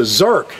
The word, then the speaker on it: zerk: do they call well a lot of farmers mispronounce it it's a zerk zer k and and my neighbor